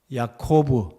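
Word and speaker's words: יעקב: 영어 이름은 히브리어 발음을 옮겨서 그런 것이고 히브리어 발음으로는 약호부 야코브 영어로는 제이콥입니다 그래서 야곱과 야고보는 사실 히브리어로 보면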